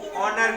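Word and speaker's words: honour: रहा है साइलेंट हो रहा है हान ह साइलेंट हो रहा है अब आते हैं यहां पर यहां भी ओनर लिखा हुआ है ओनर लिखा हुआ है इस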